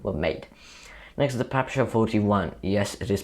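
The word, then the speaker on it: PPSh-41: around ninety thousand were made next is the pepsi 41 yes it is pronounced pepsi i've looked it up the pepsi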